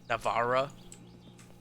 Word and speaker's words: Navarra: I don't know how to say it in English. Navarra. That feels like kind of wrong, but it's the Anglo-y way. It is the way I would Anglify the Spanish word.